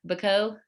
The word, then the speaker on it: Bacot: Bacot? I always mess it up, I feel like. It's okay. It's you actually are pronouncing it in the French way properly without the T.